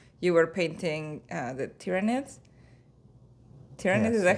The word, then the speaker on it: Tyranids: And I think one of the times before you tried to get me into it, you were painting, uh, the tyranids.